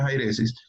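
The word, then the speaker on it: αἵρεσις: El griego es jairesis, pues ahí empieza con una, pero esa comita que tiene encima de la I, para que sepan, hace ver como una J, entonces se pronuncia jairesis.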